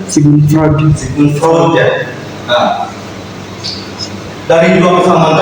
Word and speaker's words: Sigmund Freud: Bagaimana bacanya? Sigmund Freud ya.